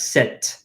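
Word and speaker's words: sept: point this out in sets this P is silent you do not pronounce that P the P is not pronounced this is pronounced as set like s ET set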